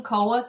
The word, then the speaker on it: Koa: So, uh, you can search my name, Koa. K O A. Um, I'll spell it for you.